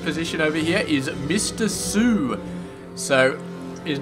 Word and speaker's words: soO: 1115 sort of position over here is Mr Sue so his name ISO and I'm pretty sure